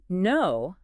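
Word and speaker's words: know: That silent K in no is the perfect example of why you just can't rely on spelling to learn pronunciation.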